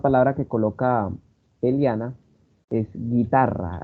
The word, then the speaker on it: guitarra: Por ejemplo, esa palabra que coloca Eliana es guitarra, ahí suena la I y se omite el sonido de la U.